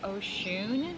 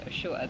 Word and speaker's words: Oshun: that was it now most cultures it's pronounced Oshun but I'm sure somewhere it's called pronounced osho the way you're pronouncing it I'm curious to